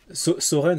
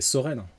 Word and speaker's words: Soren: Soren, ça se prononce bien comme ça, hein. C'est Soren.